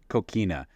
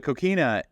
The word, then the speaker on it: coquina: Coquina.